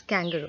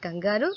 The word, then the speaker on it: kangaroo: Yes, that's how you pronounce kangaroo. Okay, it's not kangaroo, it's kangaroo. Coming back to the story, he invited all the animals.